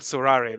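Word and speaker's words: Sorare: searching it, you'll have to say So it in French with the right Surare, pronunciation, yeah. please. It's called Surare.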